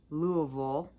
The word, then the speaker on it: Louisville: Louisville. That's how they say it, I think.